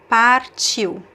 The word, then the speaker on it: partiu: I say the R, you can pronounce here, par, or par, but it's sometimes very subtle, so sometimes you don't hear the R sound.